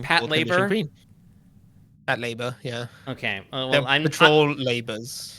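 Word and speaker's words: Patlabor: Um, is that how it's pronounced? Pat Lab. Pat Labour. Yeah. Okay. Well, control labors. Okay. Yeah. Well, I'm not It's not It's not patore.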